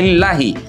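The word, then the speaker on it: لِلَّهِ: Baik, berikutnya kesalahan yang kelima adalah lillahi. Lillahi sahabat Al-Qur'an itu panjangnya dua harakat saja.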